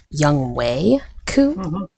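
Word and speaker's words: Younghoe Koo: I really, from a fantasy football perspective, it made me very happy because apparently his name is Young Wei Koo. I've been pronouncing his name wrong for years, and I apologize, but also it's pretty funny.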